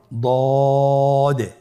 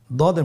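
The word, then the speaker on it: ض: পরবর্তী হরফের নাম হলো দদে। দেখতে একই রকম সদের মতোই, শুধুমাত্র নোক্তার পার্থক্য। সদের মধ্যে কোনো নোক্তা নেই, দদের মধ্যে নোক্তা রয়েছে। দদ হরফটি উচ্চারণ করার সময় অবশ্যই 3 আলিফ টেনে পড়তে হবে।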